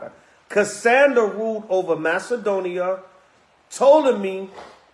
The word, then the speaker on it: Ptolemy: Ptolemy, the P is silent, ruled in Egypt and southern Syria, including Palestine.